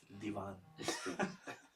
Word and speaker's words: Devon Street: In Chicago you have Devon Street. It's written Devon Street, but the Desis pronounce it as Divan Street.